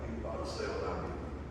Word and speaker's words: Ippon Seoi: Ippon Seoi.